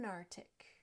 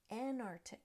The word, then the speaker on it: Antarctic: very much related and people will say and narctic Antarctic and that is not correct we're missing a t at the end of the first syllable and that c is also missing it really should be said ant Arctic ant Arctic using both of